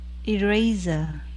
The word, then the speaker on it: eraser: eraser, Very good. Here you see, because S is after A, it yeah, becomes more like a Z sound.